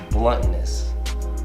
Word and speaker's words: Blunttonous: it correctly okay let's first start with its bluntness almost like blood on us and definition for bluntness